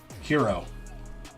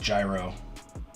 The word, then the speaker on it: gyro: I don't think we're gonna do watch-along TV shows. I hope I have a work email. Alright, nothing important. No, I know that's how it's spelled, but it's pronounced as a hero, right? It's not pronounced how it sounds, or it's not pronounced how it's said, right? Or am I wrong about that? I was always under the assumption that it wasn't a gyro, it was a hero.